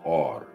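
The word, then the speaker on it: אור: as the root for all or right it's pronounced or right if you get back into the the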